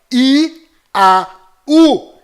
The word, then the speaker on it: יהו: Olha só que interessante, aqui está mais outra prova que a pronúncia destas 3 letras hebraicas é I-A-U, Iau.